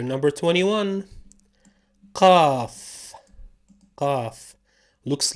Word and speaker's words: ق: Pronounced qa, not ka. Qa, like a thick ka. Think of it as the sound that the chicken makes, the cluck.